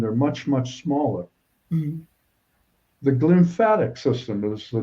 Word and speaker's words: glymphatic: the lymphatic system well it's actually glymphatic how do you spell how do you spell that put a g before lymph and you have and so what